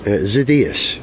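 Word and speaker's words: Xydias: The SoCal, Southern California Special, created by the founder of the original SoCal speed shop, Alex Zaidas. Is that how you say his name? Or Zacchaeus. Zacchaeus.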